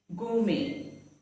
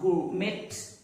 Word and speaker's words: gourmet: Gourmet. Not gourmet, but gourmet.